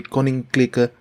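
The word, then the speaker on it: Koninklijke: i mispronounced this word it's supposed to be pronounced with a short eye not a long eye so it's supposed to be conning clicker you can clearly see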